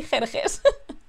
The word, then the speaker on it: Xerxes: I'm going to say Xerxes.